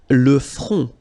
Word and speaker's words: front: Le front. Final T not pronounced.